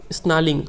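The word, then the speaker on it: snarling: हैं he should be स्नलिंग स्नलिंग आर यहां पे साइलेंट होता है ठीक है ही शुड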